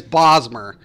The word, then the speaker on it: Bosmer: bad man bosmer yeah I always pronounce it Bozz and everybody falls murder right you're right y'all you're definitely right is bosmer so war wood elf